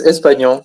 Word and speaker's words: Espagnon: I'm not going to try to pronounce your last name because I think I've been saying it wrong, but Espagnon, is that close? Yes, Espagnon, perfect.